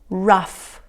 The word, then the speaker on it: rough: Tough, rough, cuff, luff, enough. Good job. Estas palabras lo que tienen en común es que la combinación GH se pronuncia como F, ¿ok?